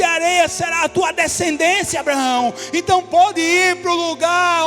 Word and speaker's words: Abraão: nome vai ser Abraão Abraão na pronúncia não é branco é mais ou menos assim É como ham sair do realmente fazendo esse esse esse som Abraão Oi e o nome